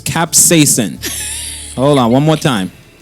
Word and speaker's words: capsaicin: It's capsaicin. Hold on, one more time. Capsaicin.